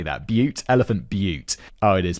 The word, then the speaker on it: Butte: Elephant Butte. Oh, it is pronounced.